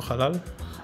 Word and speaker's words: Halal: Disco Halal. Halal, yeah, it's like Arabic.